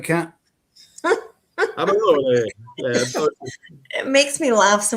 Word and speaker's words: Amarone: I used to date an Italian guy, and oh my god, if you don't say it right, Amarone, you have to say e like like eh.